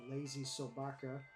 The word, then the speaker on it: LazySobaka: artists and DND compatriots uh gut witch and lazy soaka I think that's how you pronounce that that is how you pronounce it